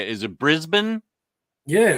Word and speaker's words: Brisbane: Is it Brisbane?